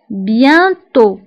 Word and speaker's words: bientôt: سيركونفليكس وفي آخر الكلمة كنكتبو تي ولكن ما كنطقوهاش أوسيتو بيانتو بيانتو كتعني قريبا بيانتو بيانتو فبالنسبة لبيانتو هنا أيضا أو كنكتبوها بالأكسان